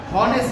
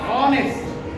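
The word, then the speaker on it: honest: তারপর আমরা হনেস না, কি হবে? অনেস।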